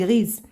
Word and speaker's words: grise: alors عندنا grise, une jument ما قلناش غري ولكن زدنا او وتنطقات لينا اس اونتر دو فويل, تنطقات لينا زد غريز.